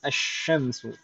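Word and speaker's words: الشمس: Di sini asyamsu, lamnya langsung idgham ke huruf syin.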